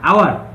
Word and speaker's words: hour: Hour. Hour. 60 minutes make an hour. Hour. So here, hour. Here ha is silent.